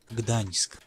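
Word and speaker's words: Gdańsk: this together on the stream here it is Gdansk Gdansk you can dance if you want to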